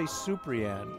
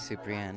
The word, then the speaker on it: Suprian: this is interesting you say superian we all said Superman that's superanne it's Portuguese Super yeah what's like